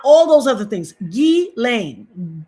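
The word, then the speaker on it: Ghislaine: Not just lane, not gizlane, not not all those other things. Gain. Gain. Let me say it again. Gain. The S is silent.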